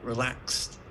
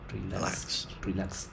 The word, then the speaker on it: relaxed: the end but we're relaxed that's only two syllables uh yeah and the 80 is pronounced like a t with a t sound that's rough relaxed relaxed yeah just like